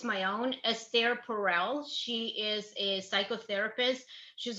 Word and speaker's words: Esther Perel: I promote her book like it's my own, Esther Perel.